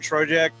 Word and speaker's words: Trojek: Trojek. Correct me if I did that wrong. Yeah, It's my first name. Trojek rhymes with logic when you get confused looking at it.